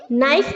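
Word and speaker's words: knife: के साइलेंट है okay नाइफ का के साइलेंट है ट का के के साइलेंट है नॉक का के साइलेंट है नॉट का के साइलेंट है नॉप का के साइलेंट है नकल का के साइलेंट है सारे के साइलेंट है इसको ध्यान रखना है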